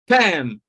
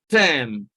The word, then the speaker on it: term: Then we have term. Again, R is silent, and we have term.